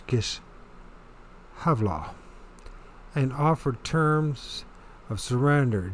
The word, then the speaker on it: Gischala: In the winter of 67, when Titus was at the gates of Gischala, but it's we in English we pronounce it Giscala, but it's Gischala, and offered terms of